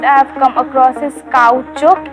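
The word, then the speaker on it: caoutchouc: the weirdest word i have come across is cow choke it's spelled as c-a-o-u-t-c-h-o-u-c hi shivali hi so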